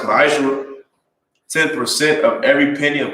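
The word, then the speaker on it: מעשר: It's pronounced ma'ashra.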